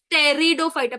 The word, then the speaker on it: Pteridophyta: थैलोफाइटा रोयोफाइटा टेरिडोफाइटा इट्स नॉट टेरिडोफाइटा इट इज टेरिडोफाइटा please silent over here टेरिडोफाइटा अच्छा now always